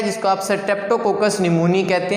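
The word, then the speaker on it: pneumoniae: इसको आप Streptococcus निमोनिया ही नहीं पढ़ते बल्कि स्ट्रेप्टोकोकस निमोनी पढ़ते हैं, ये याद रखने, इसकी प्रोनाउंसिएशन भी।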